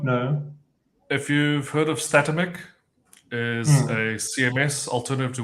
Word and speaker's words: Statamic: know how to pronounce it I've heard people pronounce it as systemic like I statamic yeah yeah statamic St St I don't know